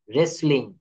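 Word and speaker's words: wrestling: রেসলিং, এখানে right, wrong, who এন্ড রেসলিং। অর্থাৎ এখানে কিন্তু ডাব্লিউটা সাইলেন্ট লেটার।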